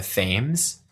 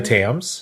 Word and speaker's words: Thames: I've always seen um commercials for like the themes th River the Tams Tams th what Tams Tams what the Tams